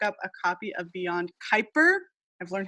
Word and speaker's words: Kuiper: Everybody, I hope you pick up a copy of Beyond Kyper. I've learned how to pronounce it correctly um over at Skylight Books.